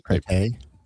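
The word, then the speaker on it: Pretti: His last name was How do you pronounce his last name? It's not pretty. It was pretty.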